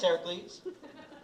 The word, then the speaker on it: Heracles: Dio Heracles. The Dio is silent. Just Heracles.